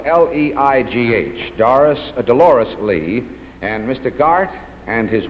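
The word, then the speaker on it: Leigh: is all set all right incidentally her name is spelled l-e-i-g-h doris delores lee and mr garth and his web orchestra and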